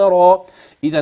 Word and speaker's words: را: خاء دال ذال را را مفخمه انتبه ر مفخمه ليس في اخرها همزه بل را اخرها الف مديه وليس الف يابسه هتيجي